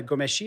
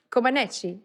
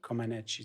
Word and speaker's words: Comaneci: Non, puis tu as On est- parlé aussi de Nadia Gomeshi. Est-ce que je prononce bien? Non, Komeshi. Comaneci. Comaneci, tu vois?